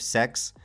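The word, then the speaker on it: Sechs: I think most notably alongside her is the character of Sex. Now his name sounds like sex, but it's actually supposed to be, I think, the word six, but like in a different language.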